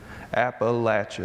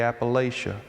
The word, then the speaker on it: Appalachia: I know people from Kentucky who will cut you for not pronouncing Appalachia the right way. “App-uh-latch-uh,” they’ll tell you.